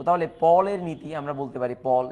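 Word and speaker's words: Pauli: দ্বিতীয় নম্বর সেটা হচ্ছে পাউলির বর্জন নীতি। এটা হচ্ছে পল। দেখো PAUL, পল, এটার উচ্চারণটা হচ্ছে পল, যে PAUL, পল। তো আমরা পলের নীতি বলা উচিত, কিন্তু আমরা সবাই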